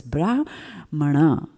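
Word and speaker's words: brāhmaṇa: on the a and there is a dot underneath the end so you know there are accents and there's a particular way in which you pronounce that word so it's brahmana right in sanskrit grammar now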